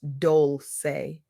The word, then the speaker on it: Dolce: I'm Dolce, pronounced Doulce, and I recently had the privilege of sitting